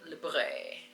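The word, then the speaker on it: Libre: I don't know how people pronounce it. Libra or whatever, but L I B R E. Libra. A lot of people call it that.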